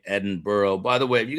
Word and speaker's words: Edinburgh: Edin bra. I've learned that. Edin Bra. I wonder how weird they think that I am. That I am that I say Edinburgh.